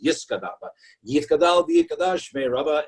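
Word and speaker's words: Yitgadal: And the worship leader would now say, okay, and just by saying Yitkadal, although it's pronounced Yiskadal, but Yitkadal v'Yikadash Shmei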